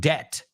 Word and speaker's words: debt: It's like the word debt. There's no B in that word. Well, yeah, there's a B, but not when you pronounce it.